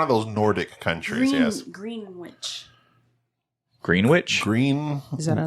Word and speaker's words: Greenwich: Well, it is spelled Greenwich, but it's Greenwich.